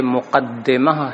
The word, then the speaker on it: مقدمہ: موضوع کا بیان ہے۔ لفظ مقدمہ کے بارے میں بتا دیں کہ یہ مقدمہ ہے دال کے کسرے کے ساتھ، اور یہ قدمہ یقدم